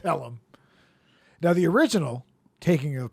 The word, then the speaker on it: Pelham: they ride it it's actually The Taking of phlegm one two three yeah I know I'm just saying it's pronounced Pelham now the original Taking of Pelham One Two